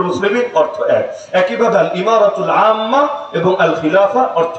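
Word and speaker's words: إمارة: খেলাফা দেয় নাই নাম দিয়েছে কি ইমারা আল ইমারাতুল ইসলামিয়া একইভাবে ওই যে আরব আমিরাত নাম শোনেন নাই শোনেন নাইট ইউনাইটেড আরব এমিরাত ওই এমিরাত যেটা আমিরাত যেটা ওইটারই আরবি উচ্চারণ হলো ইমারা মূল উচ্চারণ ইমারা তো ইমারা মানে এখানে বুঝায়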